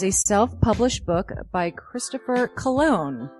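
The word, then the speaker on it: Colon: It is a self-published book by Christopher Cologne. Chris Cologne smells good to me. But look at her. That broke that fucking cold little exterior. He's like, hee. But it is spelled C-O-L-O-N.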